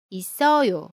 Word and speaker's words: 있어요: The last one is the final consonant ‘ㅆ.’ ‘ㅆ’ is pronounced as the same ‘ㅆ’ not [ㄷ]. For example, '사람이 집에 있어요.' (=A person is at home.) How would you pronounce it? Good.